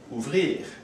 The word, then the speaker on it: ouvrir: The R in this case is pronounced, where it wasn't pronounced for verbs that end in ER, like parler. These verbs must be conjugated depending on the subject, just like verbs with ER.